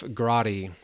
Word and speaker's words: Grotti: This next image, very low angle, Jeff Grotti, and I remember him from last time, rhymes with karate.